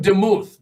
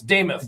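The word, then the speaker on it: Demuth: Looks like Damuth, but it's Damoth. Like I got to write that down. Lisa Damoth. Yeah. Damoth like Nameoth.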